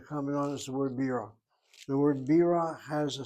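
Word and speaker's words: בירה: Why is it accented? This is unusual to have an accent over a regular syllable like this. Should it not be the last syllable? And the explanation is there's another word in Hebrew spelled the same way where we accent the second syllable and not the first.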